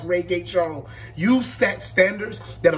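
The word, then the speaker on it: Regé-Jean: His name is pronounced Reggae Jones.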